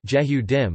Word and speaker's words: יְהוּדִים: Jews, Hebrew, Yedim ISO 259-3 Yehudim, Israeli pronunciation, Jehudim, or Jewish people are an ethnoreligious group and a nation, originating from the Israelites and Hebrews of historical Israel and Judah.